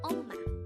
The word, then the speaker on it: 엄마: The Korean term for mom is 엄마. Again, it's 엄마. This is pronounced as a two-syllable word. The first syllable is the second syllable is ma.